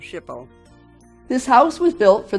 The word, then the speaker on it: SHPO: barn using recommendations from the New York SHPO (pronounced "ship-o").